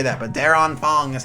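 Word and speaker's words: Der Anfang: you might just think i'm weird for saying daron fong but that's how they pronounced it in the trailer so that's what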